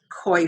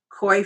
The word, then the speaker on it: Coix: This is koi fruit, that's spelled COIX. Koi fruit, Chinese yam, foxnut, lotus seed,